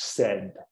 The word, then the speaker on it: said: E é assim que pronunciamos, said.